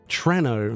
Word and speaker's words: Treno: Treno, no. Why? Why? That's how you say it in Italian, like Troia.